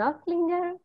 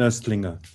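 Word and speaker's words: Nöstlinger: a quote from christine notlinger the writer christine i'm sorry how is the pronunciation christine aslinga oh oh i've said it wrong all my life yes christine she was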